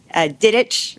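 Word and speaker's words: Didech: One of the things that I took away from the mandate reform carousel, Representative Dan Diddich, rhymes with Quidditch, was there, and he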